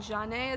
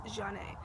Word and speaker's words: Jeannet: Jeannet is how you pronounce the Z-H-A-N hyphenated E. That's Jeannet, not Zane, not Zany or anything like that. Zane, that's close, but it's Jeannet.